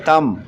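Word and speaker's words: tomb: फिर है तम, इसमें B साइलेंट है।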